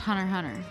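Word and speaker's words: Hunter × Hunter: it's just pronounced Hunter Hunter.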